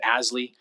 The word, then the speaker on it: ASLI: living initiative or asli we use the acronym pronounce it ashley to to build more